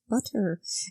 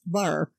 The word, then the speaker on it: butter: to your sister and Christina says butter and Mickey says bar and this is actually